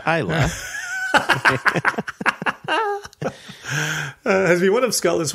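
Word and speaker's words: Islay: best single malt in the world end quote Ayla pronounced Ayla has been one of skull Islands since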